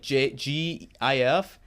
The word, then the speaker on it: GIF: I mean, it's spelled like G-I-F, but it's pronounced GIF like J-I-F.